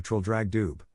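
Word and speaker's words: Traldragdubh: and my retinue to Trill drag Dube or Trill drog drib for it is pronounced both ways as near as I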